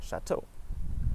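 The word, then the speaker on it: château: It also is pronounced like O if there's an EAU spelling, like chateau.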